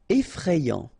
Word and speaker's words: effrayant: Effrayant. Okay, so final T not pronounced, and then you get effrayant.